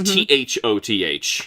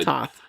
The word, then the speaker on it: Thoth: It's T H O T H. Correct. So you would think it would be Thoth, but no. Toth.